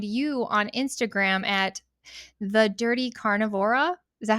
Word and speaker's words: Dirty Carnivora: I feel like I should show it, but if anybody's looking, they can find you on Instagram at the Dirty Carnivora.